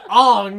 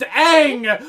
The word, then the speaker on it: Aang: they call him Anya his name is not pronounced on and is pronounced Aang why are all the